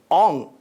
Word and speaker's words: ᱝ: The fourth letter of this set we have here is Ong. This letter is pronounced Ong in Santali.